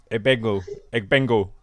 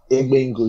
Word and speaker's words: Egbengwu: But if you want to pronounce my surname, it's pronounced as Egbengwu. Egbengwu. You don't need to pronounce the G. Okay, Egbengwu. Egbengwu, yeah.